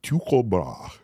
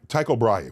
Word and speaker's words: Tycho Brahe: will show off now that I can pronounce his name. Okay, who is this? Tycho Brahe. Ty- Tycho Brahe, we call him.